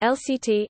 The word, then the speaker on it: Irrlicht: Elex pronounced lct in german is an open-source game